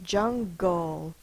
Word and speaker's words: jungle: Listen to it, jungle. G-L-E, G-L-E, gull. You hear the G-O. That's how we remember that the sound is between the consonant and the L. That is a silent E at the end, so it does not make a sound.